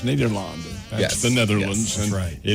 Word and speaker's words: Nederland: It does say Ned on there any day, and that's because the European pronunciation is Nederland.